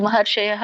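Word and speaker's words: ಮಹರ್ಷಯಃ: ದೊಡ್ಡದಿದೆ ಪ್ರಭವಂ ನಮ ಮಹರ್ಷಯಹ ಮಹರ್ಷಯಹ ನೋಡಿ ಬಿಡಿಸಿದಾಗ ಮಹರ್ಷಯ ಮಹಾಋಷಿಯ ಅಂತ ಆಗುತ್ತೆ ಅದು ಮಹರ್ಷಯಹ ಅಂತ ಹೇಳಿ ಯಹ ವಿಸರ್ಗ ಇರೋದರಿಂದ ಅ ಉಚ್ಚಾರಣೆ ಬರುತ್ತೆ ಮಹರ್ಷಯಹ ಅಹರ್ಮಾದಿರ್ಹಿ ಅಹರ್ಮಾದಿರ್ಹಿ ಇದನ್ನ ಬಿಡಿಸಿದಾಗ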